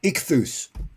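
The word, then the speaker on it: ichthys: so it's a Greek acronym how would you pronounce uh the i-c-h-t-h-n-u-s in English uh ichthus people will say yeah I mean I I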